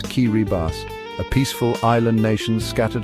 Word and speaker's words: Kiribati: Welcome to Kiribati, pronounced Kiribas, a peaceful island nation scattered across the heart of the Pacific Ocean.